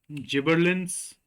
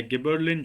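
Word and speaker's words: gibberellin: Is it cytokinin, जिबरलिन्स या गिबरलिन, जो आप इसको प्रोनाउंस करते हो, सब कुछ सही है आप लोगों के हिसाब से जो भी आप बोलते हो, ऑक्सिन या फिर एथाइलिन।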